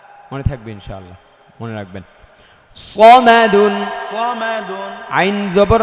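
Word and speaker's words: صمد: সামাদুন, সামাদুন, সামাদুন বলা যাবে না, সামাদুন বললে এটা সিন হয়ে যাবে, এটা সদ স স। সিনের উচ্চারণ সা, আকার হবে একটা, আকারটা মুছে ফেললে স, আকার দিলে সা। সদ হচ্ছে আকার ছাড়া স স, আর সিন হচ্ছে আকার দিয়ে সা সা।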